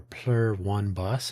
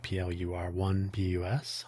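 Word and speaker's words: Pluribus: Pluribbus or plur one bus if you like plur one pus on Apple TV.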